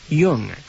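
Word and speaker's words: Jung: from the estate of Harry Yung spelled like the psychologist juu n publisher of American vigilante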